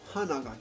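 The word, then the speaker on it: 花が: But if you say Hanaga kirei, that's flower. Hana, and then ga drops in pitch.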